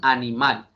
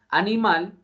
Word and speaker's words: animal: última sílaba como en la expresión animal animal lleva acento en la última sílaba mal animal pero para que este